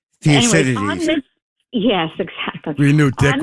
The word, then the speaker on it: Thucydides: And that's a quote from 500 BC by an Athenian historian and general, I hope I pronounce his name right, Thucydides. Thucydides.